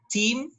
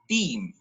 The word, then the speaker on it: theme: to be cleared out team theme was the proper pronunciation threats or treats should